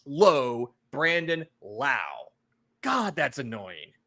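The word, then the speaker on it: Lowe: sure I'm sorry now Josh is pronounced low it's Josh low Brandon La God that's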